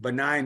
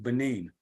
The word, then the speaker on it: Benin: I find it interesting that Raven calls it benign instead of Benin.